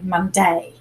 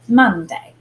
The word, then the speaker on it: Monday: We don't put the emphasis on day. We don't say Monday. We say Monday. So when we listen to the word Monday, the mun is the accented syllable.